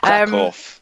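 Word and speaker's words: Kraków: Krakow, that's how it's pronounced.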